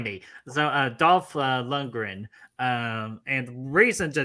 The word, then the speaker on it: Lundgren: segue drago himself dolph uh how do you pronounce the last name because i always butcher it lundgren lundgren yeah i i mean i that's how i